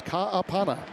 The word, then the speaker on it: Ka'apana: Hawaiian background, so it's Ka'apana, pronunciation of his surname, and Mullings is back in.